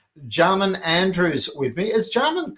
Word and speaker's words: Jamain: Is Jamain correct pronunciation? I didn't check that beforehand. Yeah, Jamain. Benjamin without the Ben, so just Jamain, or call me anything.